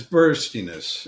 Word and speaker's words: burstiness: of it's called burstiness am I pronouncing it right yeah it's burstiness it's it's looking at